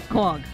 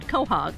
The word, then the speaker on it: quahog: Quag. Quag. Now, I grew up on the Cape, and we said quahog.